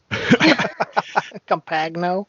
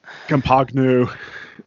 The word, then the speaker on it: Compagno: last name right yeah someone someone let Nathan James Norman know how to say my name compagno compagno uh he plays ground